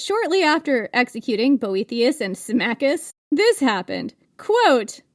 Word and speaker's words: Symmachus: Symmachus No, you just said it right.